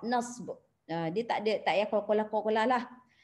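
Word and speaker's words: نصب: Cara baca dia, harfu maksudnya huruf, an-nasbi nasab. Matikan b tadi, nasab, nasb.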